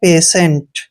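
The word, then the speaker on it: patient: जैसे यहाँ पे देखिए इसको हम पढ़ेंगे पेशेंट। पेशेंट, पेशेंट मीन्स मरीज होता है, पेशेंट, ठीक है। तो यहाँ पर टी के बाद आई ई आया है, इसलिए हमने टी को श पढ़ा है।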